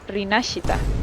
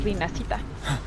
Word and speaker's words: Rinascita: Es una palabra en italiano claramente. Y se pronuncia Rinascita, no Rinascita.